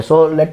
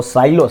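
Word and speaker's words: Sylow: सो लेट me start that theorem first. So साइलोस सिलोज़ और साइलोस इट हैज़ to pronunciation सिलो और साइलो।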